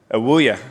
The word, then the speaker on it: Ewoyaa: He was instrumental in the discovery and evaluation of Atlantic's, I can never remember how to pronounce it, Len. Is it Ewoyaa? Ewoyaa, I was close.